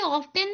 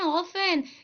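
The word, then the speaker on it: often: बच्चों इसे ऑफेन नहीं पढ़ते बच्चों। इसे हम पढ़ते हैं ऑफेन। इसमें ये जो टी सा दिख रहा है ना बेटा आपको टी ये साइलेंट है।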